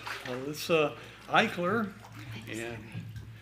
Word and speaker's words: Alyssa Eichler: Okay, next we have Alyssa Eichler. You said it right. Did I say it right?